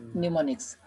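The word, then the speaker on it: mnemonics: ठीक है, am silent है, निमोनिक्स।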